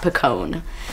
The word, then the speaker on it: Picon: can also follow me on Instagram m-i-s-b-i-c-o-n that's pronounced DOT Picone so because I post mini covers on Instagram